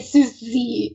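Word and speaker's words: Sucy: I will say though for Sushi that sorry that I'm calling her Sushi, it's just that's how they say it in the show. So it's I find a hard time to say Susie or something, whatever.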